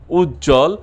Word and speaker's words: উজ্জ্বল: যুক্ত ব্যঞ্জন এ বফলা যুক্ত হলে ব উচ্চারিত হয় না, যেমন দ্বন্দ্ব, সান্ত্বনা, উজ্জ্বল, উচ্ছ্বাস।